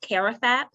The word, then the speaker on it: CARAFAP: so much for having me so it's actually pronounced karafap karathap stands for care and recreational activities for